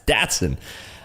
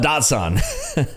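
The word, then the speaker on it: Datsun: doing it right there never heard it pronounced datson is it what people call it datson it's datson I don't call it doson I call it datson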